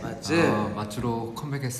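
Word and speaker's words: 맏즈: MATZ! - We're back. There are so many fans welcoming MATZ. We have a correction to make... No, an announcement. The "MAT" in MATZ is pronounced with a "d".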